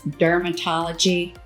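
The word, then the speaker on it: DRMTLGY: And my absolute favorite brand is Dermatology, no vowels. So, it's spelled like this.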